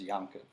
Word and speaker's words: Yaakov: But this is why Yaakov in Ashkenazi, deep Ashkenazi pronunciation is Yankov.